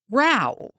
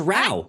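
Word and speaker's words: Rao: Row. You are correct. It is Row. Hey. R-A-O is how you spell it.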